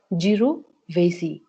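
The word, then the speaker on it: jirovecii: jovy which leads for pneumonia so it is pronounced as jov vasy which is most common fungal infection usually in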